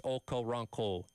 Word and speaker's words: Okoronkwo: We're not even saying it's Okoronkwo the way he pronounced it, because he has the accent, which makes it sound different. So even us saying it this way isn't technically right with the way he pronounces it.